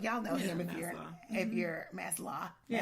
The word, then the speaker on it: Maslow: Self-actualization is the pinnacle of human development, according to humanist psychologist Abraham Maslow. Y'all know him if you're Maslow. Maslow for Californians, Maslow for Southerners. Okay, low, like LOW.